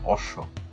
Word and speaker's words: অশ্ব: টা দুইবার উচ্চারণ রাজত্ব একইভাবে অশ্ব শব্দটি তো তাই তারবেশের সাথে বফলা আছে এজন্য তারবেশ দুইবার উচ্চারণ হচছে অশ্ব বফলা উচ্চারণের নিয়ম চার